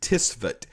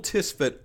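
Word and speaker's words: Tswett: And the man that kind of started the chromatography world, his last name was Tisvet. T-S-W-E-T-T. Mikhail Tisvet, but we really spell it like Michael.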